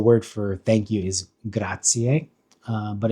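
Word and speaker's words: grazie: Um because the word ends with an I in an E and E is the I is pronounced E and then the E is pronounced A which is a bit confusing.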